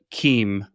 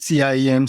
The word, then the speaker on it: CIEM: Yeah, KEEM, there are multiple ways to pronounce. Some people call it CIEM, some call SIEM, some call KEEM, of course, but I've heard KEEM a lot lately, to be honest.